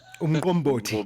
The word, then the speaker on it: Umqombothi: I'm not going to pronounce um Umqombothi. Umqombothi.